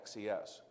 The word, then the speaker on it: XES: system extended services now there are people who pronounce that as a word right says and when I work with my my friendly customers in Brazil their ex has a different knowledge they pronounce it shows but I never pronounce it that way I always say X es because every now and